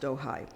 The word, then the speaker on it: Ojai: they settled in Ojai it's pronounced Ojai it's a bit outside